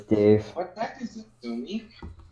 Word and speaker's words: Sumi: Sumi wrecked.